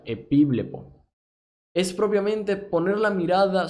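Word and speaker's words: ἐπιβλέπω: Esto es del Strong griego 1914 y se pronuncia epíblepo.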